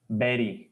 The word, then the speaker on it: buried: you pronounce as a it is not bar the pronunciation of this word is berry yes Even our education